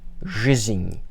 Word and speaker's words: жизнь: In Russian, when you see a cluster of consonants one after another, pronounce each consonant in the order that you see them. So in this case, жизнь. And with that enye, without that enye, it would be жизнь. But with that symbol at the end, жизнь.